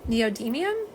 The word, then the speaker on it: neodymium: Neodymium.